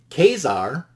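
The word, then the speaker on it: Ka-Zar: It also has Avengers volume 1 issue 53, Khazar or Kazar if you pronounce it that way.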